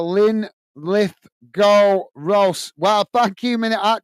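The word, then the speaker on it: Linlithgow Rose: you're killing me uh it's pronounced uh Lynn lith go Rose well thank you mini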